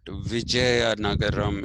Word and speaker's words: Vizianagaram: been unearthed in Vijayanagaram, not Vijayanagar Empire, but Vijayanagaram. It is written Vizianagaram because the Andhra people pronounce Z as Jed. Okay, so they write Vijayanagaram as Vizia.